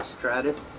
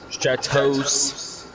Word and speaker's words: Stratos: Is somebody in a Stratus? Stratos.